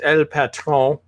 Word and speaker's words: El Patron: But now to our other friend, and I'm officially pronouncing your name from now on as El Patron. Perfect. I think you're saying it like it's French.